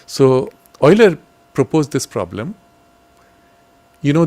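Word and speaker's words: Euler: e l e r pronounced Oiler in English for whatever reason so Oiler proposed this problem you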